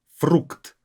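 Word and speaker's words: фрукт: Even though when the consonants are at the end, they're not as enunciated, they're not as clear when pronounced them.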